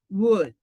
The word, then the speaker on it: would: Que ninguna se le pronuncia la letra L. Entonces, esta aquí, ups, se va a pronunciar como could, should, and would.